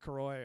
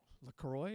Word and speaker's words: LaCroix: Excuse me while I drink my good Croy or good LaCroix. Is that it? LaCroix, right? Yeah.